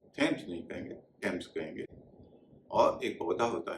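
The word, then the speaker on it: Thomas: जैसे टी एच ओ एम एस इसे थॉमस नहीं कहेंगे थॉमस कहेंगे। इस तरह थॉमसन नहीं थॉमसन। लंदन में जो नदी बहती है उसे भी थेम्स नहीं कहेंगे। थम्स कहेंगे और एक पौधा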